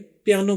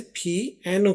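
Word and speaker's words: piano: हम तो अपनी हिंदी और उर्दू में पियानो बोलते हैं। लेकिन इंग्लिश में इसको प्रोनाउंस किया जाता है। उसमें इसे पी एनो कहते हैं।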